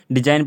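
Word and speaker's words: design: साइन साइन में भी इसमें जो है जी साइलेंट है उस उधर हो गया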